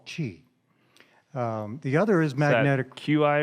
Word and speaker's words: Qi: magnetic inductance is based on technology that's called Chi the other is matter Qi or CH AI Qi Qi okay pronounced CH I'm like the British PM so